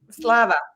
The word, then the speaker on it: Slava: Slava.